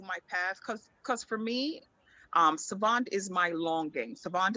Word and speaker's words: Sahvant: I threw that H in there because I wanted people to be forced to pronounce it properly, Savant versus like Savant or anything else.